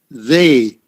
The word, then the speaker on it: they: Okay, also, same thing with they. Okay, T-H-E-Y. T, and then just pretend there's about 5 H's there. Okay? Okay, and then long A. They. they. And when you do it that way, it's easy to put your tongue out.